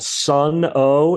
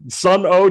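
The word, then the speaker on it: Sunn O))): called Sun O, and it's actually pronounced like wah, wah, wah, like it doesn't have a regular pronunciation, but it's spelled SUNN 8 parentheses, the letter O, and another 8 parentheses on the other side.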